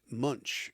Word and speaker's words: Munch: just um ask Claude to verify the pronunciation and munch is the correct um way to say Doug Munch.